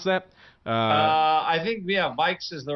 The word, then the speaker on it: VIX: Vikes, is that how you pronounce that? Vikes is the right Vikes.